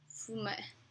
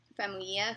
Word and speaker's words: Famuyiwa: and it was written by Rick Fuma... I always say his name wrong. Rick Famuyiwa, who did several films that I really enjoy, including The Wood and Brown Sugar.